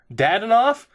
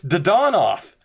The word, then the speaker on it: Dadonov: Dadanoff? He's mispronouncing his name. It's Dadonov. It's not Dadnoff.